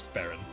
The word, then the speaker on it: Ferron: this the castle fairings they're ferrons keep Miss mispronouncing it's Farren because I'm like oh iron it's like oh yeah